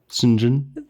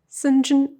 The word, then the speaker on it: St. John: Sinjin. What those are words? What are you saying? It's spelled St. John, but pronounced Sinjin.